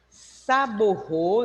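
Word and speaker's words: Sabouraud: É o agar saborro, né? Saboround, escreve saboround, mas se pronuncia Destroge.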